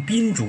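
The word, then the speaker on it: 蠙珠: 频诸呢，当然有的读音也把它读成宾珠啊，就是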